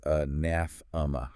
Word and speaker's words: anathema: Anathema pronounced anathma. Anaathma. And for this one mastering the stress is vital. You've got to focus on that strong second syllable.